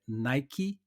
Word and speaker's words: Nike: Outra que a gente fala no Brasil, Nike, que a pronúncia em inglês, né, que a origem da marca é Nike, né, pronuncia o i no final.